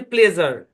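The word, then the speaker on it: pleasure: যেমন দেখেন, পি এল ই এ এস ইউ আর ই উচ্চারণ হচ্ছে প্লেজার।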